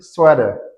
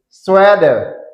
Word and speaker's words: sweater: Mais am dit sweader c'est ça prononcer D. OK. Swader Sader flip flaps flip flaps flip flaps g dit flip att e.